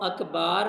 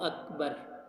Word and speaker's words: اکبر: کو لمبا نہیں کرنا۔ اللہ اکبار اگر پڑھیں گے تو نماز نہیں ہوگی، کیونکہ وہ اس کے معنی بالکل چینج ہو کر تبدیل ہو کے رہ جاتے ہیں، تو اس لیے اس کا درست تلفظ ہے اللہ اکبر۔ اگر آپ نے اکبار